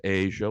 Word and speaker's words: Aja: Title of the album is pronounced Asia, like the continent.